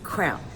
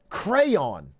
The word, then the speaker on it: crayon: aate this debate this debate this is a crown I get crayon I I see it I know how it's spelled but it's a crown when you're a